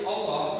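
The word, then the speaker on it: الله: Nah, di dalam lafaz jalalah yaitu Allah, tulisan Allah ini maka dibaca tebal jika didahului huruf jika didahului oleh huruf fathah ataupun domah.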